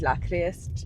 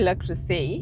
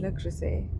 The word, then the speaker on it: Le Creuset: I was calling it La Crest. Is it what is it? I think people say Le Creuset. Le Creuset.